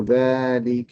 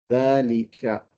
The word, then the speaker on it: ذلك: Another thing is there is an alif still after that is not written, but it is pronounced. So ذلك رجل. That and then a dagger alif, and then the lam with a kasra, and a kaf with a fatha.